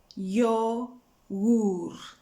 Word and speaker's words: yogur: The vowels have to be pronounced clear and distinct. So you have two vowels there. One is an O and the other one is an U. So we have to hear then O, U, yogur, yogur.